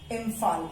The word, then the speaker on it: Imphal: Manipur, इम्फाल, IMPHAL। ये फो का sound देता है, मणिपुर, इम्फाल, ठीक है।